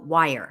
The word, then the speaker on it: Weier: are you and also wire her last name is pronounced wire I don't know why